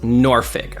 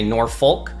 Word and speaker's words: Norfolk: of Virginia Beach just so you know it's pronounced noric a lot of people come here and they say Norfolk and saulk it is noric the original way